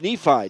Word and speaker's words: Nephi: It's not Niwai, it's Nephi. Nephi Winatana. I'm going to have to get used to that since I've been mispronouncing it. It's Nephi. It's just a different spelling of it.